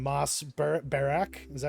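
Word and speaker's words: Bachrach: And I can't remember his name, Moss Barak. Is that how you say his name? Yeah, Backrack.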